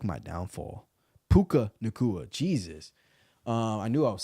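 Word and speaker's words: Puka Nacua: Tutu Atwell or Pika Nakua. Damn, bro. I can't even say this man's name right now. I suck with names, man. That's like my downfall. Puka Nakua.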